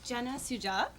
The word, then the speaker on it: Jenna Sujat: Could we hear, please, from Jenna Sujat? Did I pronounce that correctly? You did pretty good. Thank you. It's Jenna Sujat, and I am a homeowner in Northampton.